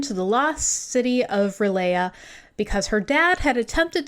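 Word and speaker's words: R'lyeh: Dania thinks that the creature came from somewhere underground in a lost land called Relaya, but it's spelled Relaire in the subtitles. Yeah, it's supposed to be like Relaya, like Cthulhu Relaya.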